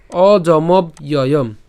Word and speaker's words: অজমব্যয়ম: যে কিছুক্ষণ আগে দেখিয়েছি তো এই পুরোটিকে আমরা যদি একসাথে উচ্চারণ করি কেমন হবে অজমব্যয়ম অজমব্যয়ম ঠিক আছে আর যদি ভেঙে উচ্চারণ করি অজমব্যয়ম তো একসাথে উচ্চারণ করব